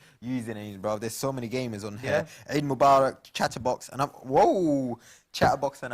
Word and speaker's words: عيد مبارك: From the Ain. Ustad Hamza would be proud of that pronunciation. The Ain coming from the deepest part of the throat.